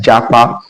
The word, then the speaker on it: japa: Now one of the words that Offord actually added to their dictionary is Japa.